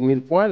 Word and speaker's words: mirepoix: Ah, es francés. Es francés, mirepoix.